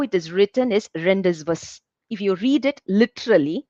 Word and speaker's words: rendezvous: to be read but if someone is reading it without any idea they will read it as rendezvous but when you pronounce it you have to call it as rendezvous if you look at